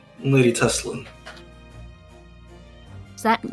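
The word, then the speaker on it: Tesslyn: It's Lady Teslan.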